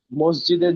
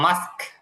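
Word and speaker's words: mosque: হ্যাঁ, এই স্যার আরেকটা বিষয়, ওই যে মসজিদের যে ইংলিশ উচ্চারণটা, এটা কি হবে একটু যদি বলে এটা দিতেন। মাস্ক, মাস্ক।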